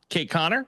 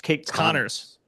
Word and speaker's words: Kate Connors: Our mutual friend of the pod, Kate Connor, was there as well. You always say her name wrong. It's Kate Connors.